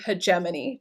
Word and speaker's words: hegemony: So we have questions about American hegemony today. That's how you pronounce it, and again, it describes who the current superworld power is.